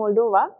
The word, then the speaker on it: Moldova: in the question so moldova or moldova it is actually moldova the correct pronunciation should be moldova okay on the completion